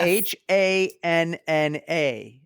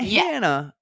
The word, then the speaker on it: Hana: H A N A. Not Hannah, it's Hana.